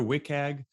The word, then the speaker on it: WCAG: it work or something you hear wick there's a few sort of industry pronunciations of it and yeah we're we're